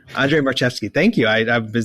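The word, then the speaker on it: Marczewski: player types I I not sure how to pronounce his name but U Andre marki Andre marcheski thank you I I've been saying it wrong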